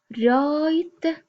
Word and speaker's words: write: The boy write a letter. Write, we have the W is silent.